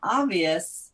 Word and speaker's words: Obvus: And it's spelled, can you spell it for those that are just listening? Because it's not obvious. It's not obvious until it's obvious, which is OBVUS. And typically when we spell it, it's lowercase OB and then capital V and then US.me.